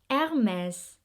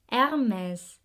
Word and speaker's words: Hermès: with a popular one hermes not hermes say it with me hermes another thing about the french people is that when they pronounce their words they don't really open their mouth wide so you say hermes hermes no it's hermes is the last name